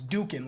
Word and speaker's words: Dokken: with this band here he said it was Duke in like Hadouken like in Street Fighter so that's what we're